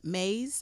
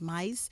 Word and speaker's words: Myss: I heard it pronounced Maze. I heard it pronounced mice. So we're going to say Maze.